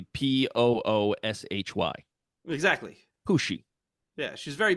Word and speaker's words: Pussy: I'm gonna tell my wife to put Pussy on the list of girl names. You got to pronounce it like James Bond does. Pussy. Pussy. Pussy Galore. It'll be Pooshy.